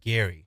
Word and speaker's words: Gerry: but we call it Jerry oh yeah yeah but his actually was pronounced his last name's pronounced Gary yeah or so Alex